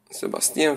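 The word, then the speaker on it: Sébastien: Sebastian Sebastien w tym przypadku. Tutaj to francuski E, Sebastien Vauban, a pisze się Vauban.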